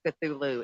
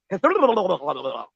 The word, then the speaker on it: Cthulhu: They were like, really, technically, you're not supposed to be able to pronounce Cthulhu. It's really Cthulhu. Yeah. We have not the tongue to properly pronounce his name.